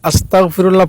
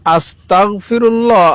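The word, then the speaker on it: أستغفر الله: দেখুন আস্তাগফিরুল্লাহ আর আস্তাগফিরুল্লাহর মধ্যে খুব বেশি কিন্তু ব্যবধান না। আস্তাগে গয়ে উচ্চারণটা হয়। আর আস্তাগ ক দিয়ে উচ্চারণটা হয়।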